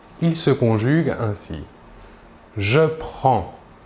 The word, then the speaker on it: prends: Nous voyons ici que la prononciation est la même pour les 3 premières personnes. Le S final des 2 premières personnes ne se prononceront pas, mais s'écrivent.